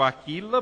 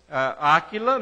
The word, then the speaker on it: Áquila: encontrou um certo judeu chamado Áquila, ou algumas versões não tendo acento, as pessoas pronunciam Aquila, mas Áquila, na maioria das versões, natural do Ponto, recentemente